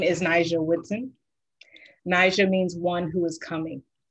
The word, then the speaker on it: Ni'Ja: people in the back my name is pronounced niger the soft j follows a hard blade also known as an apostrophe i make art thank